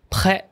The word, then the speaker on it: prêt: 你如果讲 prêt，因为 prêt à porter 是 ready to wear，但是 prêt it has a T at the end, right? You don't pronounce the T.